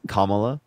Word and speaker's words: Kamala: just said you're calling Jake now because I mispronounced Kamala it's Kamala I know I'm just must thank you well